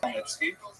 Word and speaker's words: Khmelnytsky: You may have seen his name in the literature spelled with a CH, a Polish spelling, Chmielnicki, but it's pronounced Khmelnytsky.